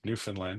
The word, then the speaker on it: Newfoundland: Newfoundland is how they pronounce it. They're very uh New Finland. Newfoundland. Yeah. But they say land, not Lond.